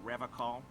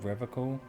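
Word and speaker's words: Revachol: He pronounces Revacol with a hard K, unlike other people. Serious question time. This man is no innocent. No one is. You said Revacol?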